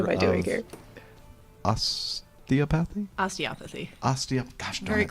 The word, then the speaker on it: osteopathy: Osteopathy? Osteopathy. Gosh darn Very it. close. I always mess that up. It's the emphasis on the other syllable.